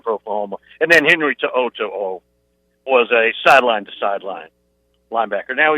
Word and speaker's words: To'o: Alabama got one of the biggest transfers coming out of Tennessee, and I'm going to mispronounce this kid's name, so forgive me, but Henry To'o.